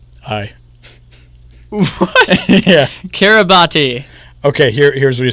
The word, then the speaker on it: Kiribati: okay i RI b 8e z hi yeah Kiribati okay here's what you said I think a